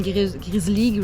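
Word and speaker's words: Grizzl-E: on a à la maison, là, une Grizzly, je sais pas comment ils le prononcent. Là. C'est Grizzly, ouais.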